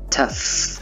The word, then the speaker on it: tough: Đọc là uff, tough. Đó, gh là mép ha.